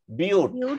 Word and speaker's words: বিউট: একটু পড়ো তো, কার্বন সংখ্যা 3 হলে মূল হবে প্রোপ, কার্বন সংখ্যা 4 হলে মূল হবে বিউট। এটাকে বাট পড়বো না, কি পড়বো? বিউট।